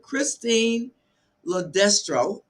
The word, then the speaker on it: Christine LoDestro: And so Christine's going to try some earphones, but Christine LoDestro is how you pronounce her name.